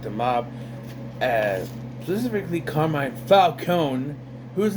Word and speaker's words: Falcone: forgot say what it's Falone it's always Falone you don't you don't pronounce the e yes so Batman is